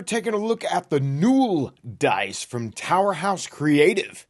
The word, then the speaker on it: Nuul: know that it's pronounced n and not null well I asked Elton the awesome maker of these dice so there he said you pronounce it n like the word cool ha and towerhouse creative